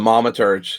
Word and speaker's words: Thaumaturge: So the first thing I want to talk about today is the Thaumaturge? How do you say it? Thaumaturge? The Thaumaturge.